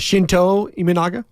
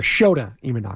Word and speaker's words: Shota Imanaga: Well, the Japanese pitcher that you were afraid to because you don't want to be on a mispronunciation. Was it Shinto Imanaga?